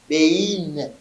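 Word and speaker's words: בין: Ça se prononce comment? Ei. Bein. D'accord?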